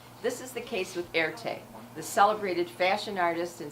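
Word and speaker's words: Erté: So in French, Roman with an R is pronounced air, and the letter T for Tirtov is pronounced te. So he combined it together, voila, Erte.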